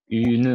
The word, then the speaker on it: une: Il faut prononcer le E. Si tu dis une, tu vas trouver qu'il y a seulement une seule syllabe. Mais si tu dis une, c'est-à-dire qu'il y a 2 syllabes. Et donc, vers la fin, quand tu vas compter, tu ne vas pas trouver le bon compte.